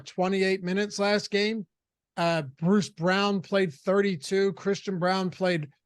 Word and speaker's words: Braun: halfway through the season when I was saying Braun, and people in chat corrected me. And I was just like, all right, these people cannot read. But yeah, it's Brown.